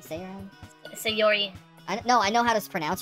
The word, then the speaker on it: Sayori: your eye i even forgot how i was pronouncing your name sarah say all right say yori i don't know i know how to pronounce